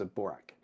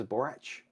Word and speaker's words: Borac: Cris borak borak yeah chis borak but it's I think Serbian and it's supposed to be Cris borach oh wow so everyone's